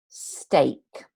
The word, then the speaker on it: steak: ene followed by okay it is pronounced closer to an a sound so break steak um and this can